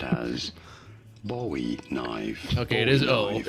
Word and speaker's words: Bowie: This is generally pronounced as Bowie knife.